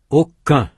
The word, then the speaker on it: aucun: Aucun. Allons. Roman. Américain. Un, on, en, and un represent nasal vowels. They are vowels. No consonant sound N is heard.